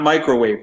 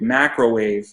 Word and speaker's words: Macrowave: And I'm just going to throw stuff out there where we got Mars, Charlie Vincent, Benadryl, Toxic Project, Light Tracer, Cyberwalker, Macrowave, not Microwave, Macrowave, Max Overdrive, and that's spelled ORVERDRIV, 1986.